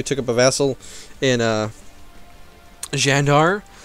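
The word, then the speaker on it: Candar: up a vassal in Jandar, not Kandar, as people have reminded me literally every episode where I've called them Kandar. It is not Kandar, it is like Jandar. C's are pronounced weird in Turkish.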